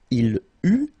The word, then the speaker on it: il eut: Okay, so j'eus, final S not pronounced, tu eus, final S not pronounced, il eut, final T not pronounced, elle eut.